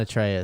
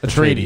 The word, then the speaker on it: Atreides: No, it's not Atreus. Is it just broken in my brain from God of War? Atracitus, or what is it? Atreides. Atreides.